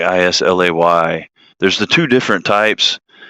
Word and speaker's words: Islay: If it's pronounced Islay, I don't know. I know sometimes the S is silent when it comes after an I.